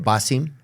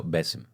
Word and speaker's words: Bassem: Yes, that's how you say it. Basim. No, Bessim. Bassim. Bessim. It's a softer. Bessim. Oh, Bessim. Not Basim. Yeah.